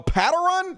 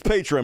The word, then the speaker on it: Patreon: It's like patron, but you're paying them. So it's a Patreon. A Patteron? That don't even Patteron? I don't even know what the fuck that. Fuck that. It's Patreon, motherfuckers.